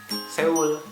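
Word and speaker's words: 서울: Seoul itu kan sebenarnya tulisannya Seoul. Di Korea itu dibacanya bukan Seoul tapi Seoul gitu.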